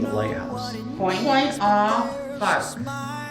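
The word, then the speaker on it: Point aux Barques: Point off Bark. Oh, you were way off. I was way off. I was Barcu. I was trying to make it French.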